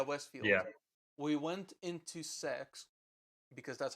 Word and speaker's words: CeX: shepherd's westfield yeah westfield yeah we went into sex because that's how it's called apparently but i'm